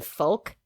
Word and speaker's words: folk: I was so distracted by the fact that she pronounced the L in folk that I couldn't listen to for about like 3 minutes after that.